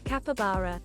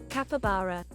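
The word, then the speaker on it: capybara: one based on like, how do you say the name? Is it Capibara? Capabara. Is that right? Capabara. Yeah, that's right.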